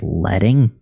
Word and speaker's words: leading: When the line height of an element is modified, you are manipulating the leading, pronounced letting? What the What? You are manipulating the leading, pronounced letting, of the font.